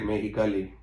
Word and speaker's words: Mexicali: You need to say it right, Mexicali.